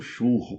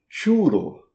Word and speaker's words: churro: você quiser pedir um churro para comer. Bom, lá não se pronuncia churro, pronuncia-se como churo. Churo, completamente diferente de churro.